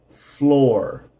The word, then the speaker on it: floor: Floor, the second O is silent. Floor, floor.